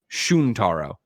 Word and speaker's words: Shuntaro: Greg slaughtered the name of Nintendo's president Greg pronounced it as shuntaro it's shuntaro I destroy the Jews oh